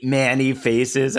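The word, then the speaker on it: Man-E-Faces: Like Ramman and Manny Manny Faces.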